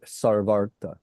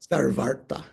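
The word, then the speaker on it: सर्वार्थ: Sarva Arta, the two are joined with a long A between the two.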